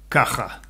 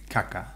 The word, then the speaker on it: caja: So, I would say caja. Caja. Mm-hmm. La caja, the box. Caja. Caja, box. Caca, poo. Different thing, yeah, different thing. So, and lots and lots of people will pronounce that as caca.